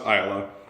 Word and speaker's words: Islay: It's pronounced Islay.